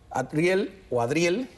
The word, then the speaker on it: Adriel: Adriel, me empeño yo en pronunciar la D independiente. Adriel, periodista de TV Martí, bueno, un joven inteligente que hemos visto muchas veces acá.